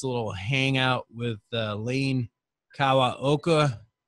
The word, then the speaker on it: Kawaoka: It's a little hangout with Lane Kawaoka, who I always pronounce Lane Kawaoka. and he never corrects me, but I heard him say Kawaoka once recently, and I was like, oh, okay.